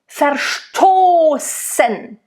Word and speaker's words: verstoßen: Verstoßen. So you want to make sure, again, the V in the beginning is a nice F.